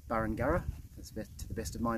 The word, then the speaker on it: Burringurrah: Unfortunately, I mispronounced it a couple of times in the video, so I thought I'd just correct that now. I think I said Burringurrah, but it's Burringurrah, to the best of my knowledge.